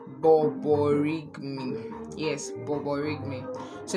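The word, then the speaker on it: borborygmi: So this sound is called borigmi. Yes, borigmi. So it's spelled b o r b o r y g m i.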